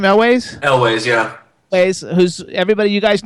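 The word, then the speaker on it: Elwes: Is that how you pronounce his last name, Elways? Elways, yeah.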